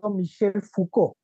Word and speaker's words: Foucault: Veamos un poco a este autor llamado Michel Foucault, ¿no? Se escribe así Foucault, pero es Michel Foucault.